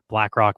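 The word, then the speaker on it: Blakroc: The Black Keys did hip hop remixes, had rappers rap over stuff, and it's called BlackRock, but it's spelled with ROC instead of ROCK.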